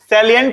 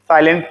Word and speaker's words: salient: फिर लिखेंगे heading next हमारा, सैलिएंट feature of एचजीपी। सैलिएंट, SALIENT, सैलिएंट feature, साइलेंट पढ़ते हैं इसको लेकिन that is not something of that.